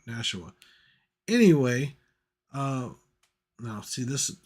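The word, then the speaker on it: Nashua: is Devil's Den from nsiah make sure I said that right because uh yeah see I don't mess it up n nasua sorry I guess I did say it wrong nasua anyway uh now see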